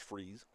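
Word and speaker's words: Frize: Landon Freeze, the batter, spells his last name F R I Z, pronounced Freeze.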